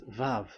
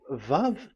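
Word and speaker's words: ו: So don't change it into W.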